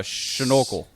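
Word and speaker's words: seanfhocal: francisco yes yeah so sean focal no no no you nailed it exactly how it sounds they never pronounce f's ah so uh schnookle there it is just like just like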